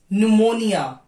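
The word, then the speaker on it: pneumonia: letter P psychology psychiatric न्यूमोनिया न्यूमोनिया एक तरह का फीवर है जो लंग्स से आता है उसमें भी पी साइलेंट होगा बट स्पेलिंग विल स्टार्ट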